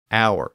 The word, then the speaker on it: hour: So words like honor, honest, hour, as in the time of day, heir, as in someone who inherits property, and herb were spelled with their silent H.